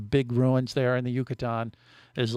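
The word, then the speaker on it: Yucatán: our stops you know that right yeah the yucatan the yucatan you say that yeah say that with me it's a peninsula yucatan yucatan no say it like you're in mexico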